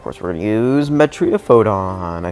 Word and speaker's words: Metriaphodon: And then yeah, of course, we're going to use Metriopodon.